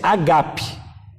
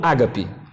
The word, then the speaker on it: agape: pinceladinha para os irmãos, o certo da pronúncia é agape, e não ágape.